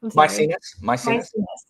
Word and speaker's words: Maecenas: Sorry if I'm saying his name wrong again, but how do you say it again? Maecenas.